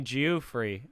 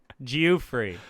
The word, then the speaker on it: Geoffrey: my life Go free yeah someone called me geo-free in Seattle jew-free asmus free yeah that's bad how how could that be my name how could that be how you pronounce it Geoffrey it is yeah my mom named me jewfrey